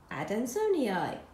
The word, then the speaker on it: adansonii: ADD an Sony eye I've just learned how to pronounce that adamsoniai and I'm following on